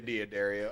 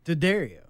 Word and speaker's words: D'Addario: We say it wrong. Oh, shit. Because it's D''D. Area. It's D'Addario. Yeah. But we say Diodario.